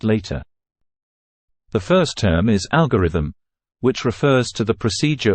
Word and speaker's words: algorithm: pronunciation of the word the stress is put on the first syllable and thus the O in the second syllable is weakened to awah sound so